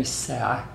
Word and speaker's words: الساعة: And when التاء مربوطة comes at the end of sentence, it's pronounced هاء. So you say كم الساعة.